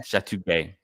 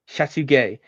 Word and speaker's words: Chateauguay: And we're going to just want to talk about the Battle of the Chateauguay, Gay. and Sorry, this one, but it is that gay, yeah. Chateauguay. Chateauguay.